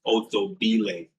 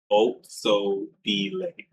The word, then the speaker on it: Otshabile: Uh, her name looks like that, but it's pronounced Otsobile. Otsobile.